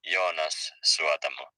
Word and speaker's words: Jonas Suotamo: Yeah, his name is pronounced Jonas Suotamo.